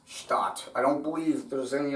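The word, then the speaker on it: Stadt: The German word for city, spelled in Hebrew, Shin tight Aleph Dalet tight. Special tools and definitive techniques. Pronounced Stat.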